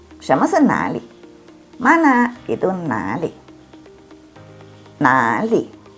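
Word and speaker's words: 哪里: Itu nali. Nali. Dengarkan depannya itu na, ke bawah. Nali. Jangan nali. Kalau dibacanya nah, itu artinya di situ.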